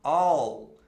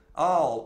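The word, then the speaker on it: I'll: contraída I will fica all all eu sei que é um pouquinho difícil de falar no início porque é o Dark L que a gente fala quando a língua vai para trás quando você pronuncia o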